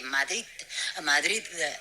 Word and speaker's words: Madrid: Lo de Madrid, sí, no, la D no la pronuncia, Oh, ¿no? you don't pronounce the D at the end.